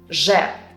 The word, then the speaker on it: З: Zh resembles the French je, like in the words bonjour, jouer, étrange, zh. And z sounds the same as the English z, like in the words zoo or zebra, z.